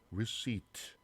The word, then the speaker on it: receipt: 발음겨 보니까 receipt, p가 발음이 안 되네요. receipt. 자, 이게 뭐 영수증 또는 뭐 수령 받는 것 이런 의미인데, 자, p가 발음이 안 되죠.